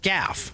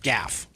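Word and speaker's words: Gaugh: oh it's like laugh okay Gaff so g-a-u-g-h is Gaff I'm guessing heart G guessing a hard G all right um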